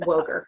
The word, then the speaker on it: Woegerer: with us dr barb woger and she has an er at the end of her name and you want to pronounce that but you don't it's just woker so when you're looking